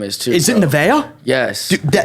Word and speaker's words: Nevaeh: Nevaeh? Yes. Dude, that- we just pronounce it Neve.